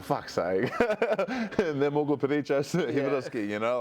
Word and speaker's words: Peričić: I like the correct pronunciation of his surname there as well, Peričić. Everyone calls him Jocic.